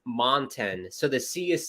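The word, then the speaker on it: Moncton: uh New Brunswick pissed off because you're saying Monkton Ron it's monten so the sea is silent it's a mountain thank you Jacob for pointing that out it's montin Z are wearing their hockey fights cancer jerseys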